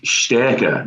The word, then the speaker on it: STÄRKE: And it is STÄRKE, not the way that you pronounced it.